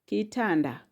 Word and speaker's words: kitanda: Next word, kitanda. Kitanda. Kitanda has syllable ki. Ta. Nda. Ki. Ta. Nda. How many are they? Those are 3 syllables.